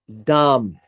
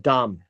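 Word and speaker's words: דם: we deal with blood the word blood is Dum that's what it's pronounced Dum and so when you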